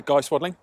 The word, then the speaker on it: Swadling: Swadling. Swadling. Yep. That's a hell of a pronunciation.